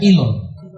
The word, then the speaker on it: Elon: Así se escribe Elon. Se pronuncia Elon.